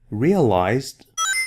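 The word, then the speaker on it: realised: Realized with S in British English. Is it pronounced as realized in British English? No. It is still pronounced as a Z, only spelled with an S, okay?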